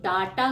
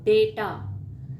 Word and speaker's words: डेटा: इसका प्रोनाउंसिएशन ज़्यादातर लोग बायो डाटा करते हैं। इसका सही प्रोनाउंसिएशन है बायो डेटा, डाटा नहीं डेटा।